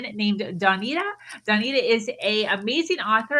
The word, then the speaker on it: Dawnita: So Dawnita, it's Dawn. dawn as in the morning, and then the Ida on the end.